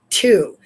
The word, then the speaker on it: Tiw: Victory in battle, a guiding planet or star, the Norse god Tu, whose name we get Tuesday from. So you pronounce it like two.